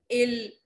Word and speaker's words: ils: One more rule in French that we have to follow is that all the consonants that lie in the end of a verb, they are not pronounced.